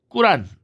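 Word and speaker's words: قرآن: 그래서 흔히 이 이슬람교의 경전이라고 할 수 있는 꾸란, 뭐 코란, 쿠란 이렇게 표현하는데 발음상 꾸란이 더 적합합니다.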